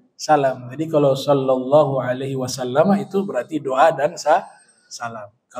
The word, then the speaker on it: wasallam: Ya, kalau kita awali dengan sallallahu alaihi wasallam, kita bacanya wasallam bukan wasallim. Ya, bukan sallallahu alaihi wasallim misalnya.